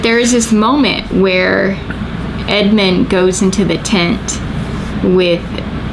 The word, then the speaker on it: Edmund: narnia with edmond and edmond i'm going to say it right i said it wrong but edmund in the story he's